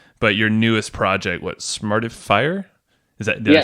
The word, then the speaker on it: Smartifier: it's open yet, but your newest project, what, Smartifier? Did I say it right? Smartifier.